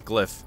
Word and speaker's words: glyph: right but then the L comes before the Y so it's glyph I I actually didn't